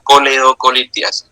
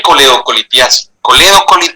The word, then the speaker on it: coledocolitiasis: Hablar ahora es la coleocolitiasis piense Cómo se escribe y cómo sé no es colegio así no es con la no es colectivo se llama coledoco y quiere ser cálculo